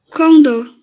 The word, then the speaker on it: condor: Condor. Condor. Última sílaba, tônica.